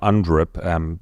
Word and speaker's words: UNDRIP: So if you haven't heard of UNDRIP, exactly as it's spelled, UN and then DRIP, D-R-I-P.